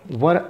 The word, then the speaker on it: were: वर, हिंदी में जो वर बोलते हैं, वर वधू होता है, वर ठीक उसी तरीके से प्रोनाउंसिएशन आपका होना चाहिए, वर, राइट?